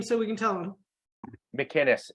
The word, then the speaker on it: McInnis: McInnis, MCINNIS. Gotcha. spell it one more.